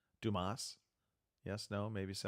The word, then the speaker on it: Dumas: Dumas. Yes, no, maybe so. I believe it's Dumas. It's Dumas? French, so you only pronounce like half the letters.